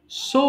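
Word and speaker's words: sew: বল পারটে পারুক পারটেন সো মানে সেলাই করা এটাকে সিউ বলব না হ্যা উচ্চারণটা যদিও মনে হচ্ছে তোমার কাছে সিউ বাট এটা কিন্তু হবে স মানে সেলাই করা সড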